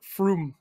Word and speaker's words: Frum: Well, then you have to pronounce it Froom. Froom, yeah. It's got an umlaut.